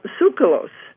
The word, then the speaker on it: Tsoukalos: his is giorgio uh sucralose you pronounce it very well that's perfect absolutely i just said leave the tea off and i guess we're